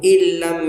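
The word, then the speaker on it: إن لم: फलअल्लक बाखिउन नफ्सक अला आसारिहिम इल्लम युमिनू। इन नून को हम लोग साइलेंट करके एकदम साफ साफ पढ़ेंगे। हमजा लाम जेर इल लाम मीम ज़बर लम इल्लम से इस तरह से पढ़ेंगे।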